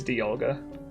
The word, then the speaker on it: Dialga: Dialga. I don't say Dialga. It's not a long I. I think it's a short I. It's Dialga.